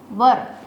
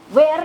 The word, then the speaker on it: were: क्या बन जाएगा, यू वर sleeping, they वर sleeping, ठीक है। वर बोलना है, वेयर नहीं बोलना है, ठीक है। इट इज़ the wrong pronunciation, right pronunciation is वर।